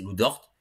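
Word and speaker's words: Lu Dort: pas pour rien donc je dis dort mais dort à chaque fois je prononce Z je sais pas pourquoi mais c'est lou dort dans mes souvenirs mais en tout cas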